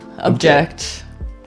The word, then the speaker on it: object: Yeah, and looking at the pronunciation, there is a slight difference. Object, you got the emphasis really hard on the, and it's a slightly different vowel for the ob versus Yeah, the object.